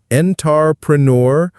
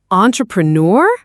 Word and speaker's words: entrepreneur: The French origin gives it that distinct aw sound at the beginning, and the stress falls on the last syllable.